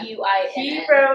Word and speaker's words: Guinn: I would pronounce it Gwynne. Yeah. Guinn.